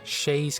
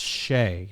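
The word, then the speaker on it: chaise: wait surprise Platt promise pal whim and storm Shay's chaos chair Senator spectator mayor I've always been told that this is pronounced Shea not Shays Shea toll but our ansuka for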